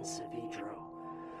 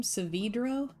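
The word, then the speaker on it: Saavedro: Did he just pronounce his own name Savidro? There is only one E in that. Savidro. I don't know if I can rewire my brain at this point. I've been pronouncing it with a short E for 20 years.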